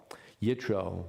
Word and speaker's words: Yitro: And we know of what we would call a close relationship between Moses and his father-in-law, Yitro, in English pronounced Jethro.